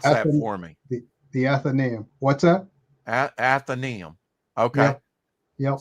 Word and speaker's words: Athenaeum: And pronounce that for me. The Athenaeum.